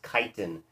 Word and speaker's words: chitin: their cell walls is chitin, C-H-I-T-I-N. These animals are called chitons. It's pronounced the same way, but it is T-O-N.